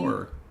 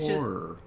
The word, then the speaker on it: horror: But no, I think it has 2 syllables for me. Horror. Yeah, it's horror. It's just like, it's the syllabic R kind of situation. Like, so it's like the first syllable ends in an R, and then the second syllable is just the syllabic R for me, I think.